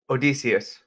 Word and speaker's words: Odysseus: you see that how do you say that Odysseus Odysseus that makes a lot more sense or